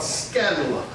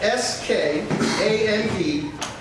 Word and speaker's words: skandalon: The Greek word for offense is called skandalon. It's spelled S-K-A-N-D-A-L-O-N.